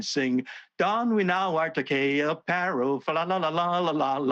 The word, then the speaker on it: Takei: So I said, I tweeted, all right, if you're going to ban the word gay, then my surname rhymes with gay, Takei, gay.